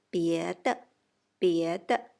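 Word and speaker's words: 别的: 别的 neutral tone for the second character.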